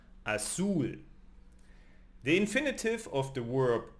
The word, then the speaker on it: azul: Blue is azul in Spanish and it ends in L. So it's not part of the nose. Therefore, azul.